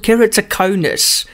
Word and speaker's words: Keratoconus: It's called Keratoconus. Dr. Dylan, how's it? Hey, Eon, you pronounced that perfectly.